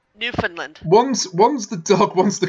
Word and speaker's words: Newfoundland: Listen, you said it wrong. Newfoundland, not Newfoundland. Oh, God. Oh, I'm always doing that. You said it's it like a land. Yeah, it's a land full of new fun.